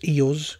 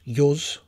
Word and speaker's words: Iuz: as a footnote here I'd like to discuss the name Isles little bit of digging around the internet to see how it's pronounced by other people and I've come across various iterations I use yours yours all seem to be popular I however have been proud to its oils for as long as I can remember